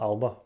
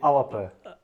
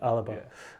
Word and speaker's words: Alba: Well, I call it Alba, but that's not the way you pronounce it, is it? Because I'm a southerner essentially. Yeah, that's all right. Yeah, it's supposed to be Alapa. It's almost like 3 syllables.